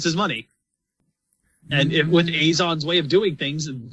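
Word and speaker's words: Eizan: what he's already got I thought it was isin like the villain from blades it's pronounced Azon in the anime I heard I heard ease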